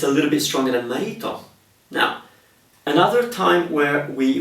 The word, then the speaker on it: marito: uh possibilities or locations r in the middle of a word between vowels is a mild R it's not crazily strong okay for example the word for husband three syllables Mao marito marito marito so I'm